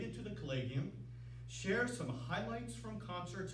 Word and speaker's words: Collegium: In Europe, Collegia Musica, which is plural of Collegium Musicum, and Collegium seems to be the proper way to pronounce it, but everyone likes to say Collegium.